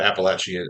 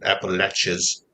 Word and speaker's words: Appalachia: thing it's takes place in this area, the Appalachian Appalachas.